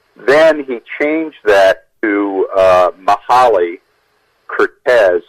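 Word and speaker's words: Curtiz: you are TI Z which everyone pronounced as kirti's except or Michael Cooper who always pronounced his name Curtis going back to what he originally changed it so my desire to point that out was to kind of set the record straight also one of his granddaughter's said please point this out in the book that he pronounced his name Cortes but on the other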